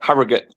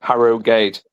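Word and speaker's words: Harrogate: Anyway, you see I just say Harriut where it's they pronounce it Harog gate.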